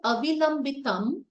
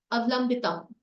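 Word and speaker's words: अविलम्बितम्: Instead of avilambitam, if I pronounce it or enunciate it like avlambitam, it changes the meaning.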